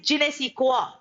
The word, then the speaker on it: je ne sais quoi: All right, its pronunciation is je ne sais quoi.